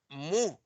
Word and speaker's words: mu: Bueno, mira, es muy importante que se graben que esta letra griega, que se pronuncia mu, representa la media de una población.